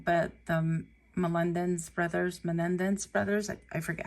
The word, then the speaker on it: Menendez: name wrong, but the Menendez brothers, I forget how to say it. But I always want to call them Mendez, and that's not how you say it.